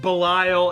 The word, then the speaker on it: Belial: I say Belial because the movie, like the movie Basket Case, the killer parasitic twin is named Belial. It's spelt the same way. They say Belial, and I'm like, yeah, his name's Belial.